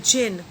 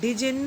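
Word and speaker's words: djinn: Presently there came along the जिन। Children, हम इस word को डिजिन नहीं बोलेंगे, इसको जिन प्रोनाउंस करेंगे। डी इज a silent hair. ठीक है, presently there came along the जिन।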